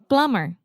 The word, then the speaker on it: plumber: your toilets and like plumber yeah a plumber yeah that has a b in it oh yeah I don't know why we don't say plumber no that sounds ridiculous